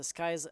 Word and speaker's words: Skies: Ça se prononce Skies, Rafi, S4Will, Cobra et Coco.